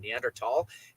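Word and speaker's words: Neanderthal: certain nander neandertal DNA which is how I was learn to pronounce it in anthropology neander tall DNA you are more resistant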